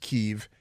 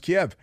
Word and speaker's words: Kiev: a missile into Kiev, which is not pronounced Kyiv, it's pronounced Kiev.